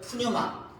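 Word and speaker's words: πνεῦμα: 또 신약 성경에 기록된 말로는 푸뉴마라고 합니다. 따라볼까요? 푸뉴마.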